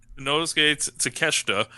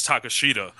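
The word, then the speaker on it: Takeshita: pronounced either my man no no no that's it that's okay to keshta but i had to listen to kenny omega say it first um i thought it was takashita or whatever but you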